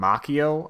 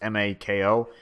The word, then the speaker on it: Mako: characters, I think their names are Bolin and Makio, or Mako. I think his name is Makio, or I'll just say Makio Mako. I forget his name, or I forget how to pronounce it. It's Mako.